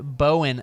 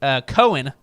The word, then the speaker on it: Cohen: That was great stuff there from David Bowen again. David Cohen. Cohen. There you go. I looked it up because I thought I said it wrong. I did say it wrong.